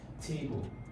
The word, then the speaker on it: table: Now, the stress on table, you can see, is on the primary stress is on the first syllable, table.